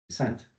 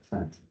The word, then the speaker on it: sainte: Le te, ce n'est pas un te avec un petit e. C'est un te, sainte. Il y a finalement une seule syllabe, sainte.